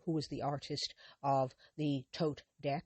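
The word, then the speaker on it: Thoth: She drew the writerweight Smith and later Lady Freda Harris who also who was the artist of the tote deck otherwise t h o t pronounced tote the tote deck which she created with Alistister Cruy.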